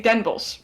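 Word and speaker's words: Den Bosch: We say Denbos because we don't want to say the whole thing. No one does that.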